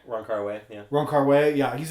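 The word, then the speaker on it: Wong Kar-wai: How do you pronounce the name? Ron Kar-wai? Ron Kar-wai, yeah.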